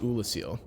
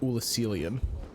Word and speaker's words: Oolacile: an oolacile sorcerer okay so it's just oolacile it's not ulucelium although i'm gonna be